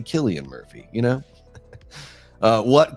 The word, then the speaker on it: Cillian: Don't say Cillian Murphy, say Killian Murphy, you know?